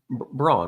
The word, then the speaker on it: Braun: It's Braun. I'm right? on the Giddy side. Yeah, he's pronounced Brown for some reason.